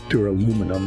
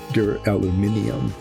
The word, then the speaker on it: duraluminium: They spell it it's from Spain, so it's spelled the European way. It's not duraluminum, it's duraluminium. So I suppose since I should call it the way it's spelled there, duraluminium. There it is.